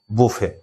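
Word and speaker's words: buffet: বুফে বলতে একটা রেস্টুরেন্টে যে বুফে, যে খাবার দাবারের যে ব্যাপারটা, সেটা হচ্ছে বুফে। তাহলে এটা কিন্তু শেষের টিটা কিন্তু সাইলেন্ট।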